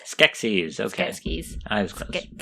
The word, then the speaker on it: Skeksis: It's Skeksis. Okay. Skeksis. I was close. I can't pronounce it.